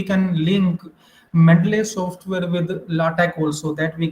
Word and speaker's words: LaTeX: okay even we can link ml software with latch also that we call latex okay but its actual pronunciation is latch so whether we are writing a paper in